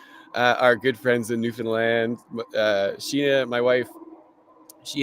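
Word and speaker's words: Newfoundland: for our inspiration uh our good friends in New Finland uh Sheena my wife she has family that way so that's where the inspiration comes from so your first oh y so it's pronounced New Finland new and not New Foundland newfinland newfinland Newland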